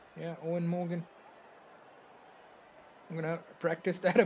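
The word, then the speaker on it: Eoin Morgan: Yeah, I know Morgan's first name looks different, but in an interview he said just say it like Owen Morgan. Yeah, Owen Morgan.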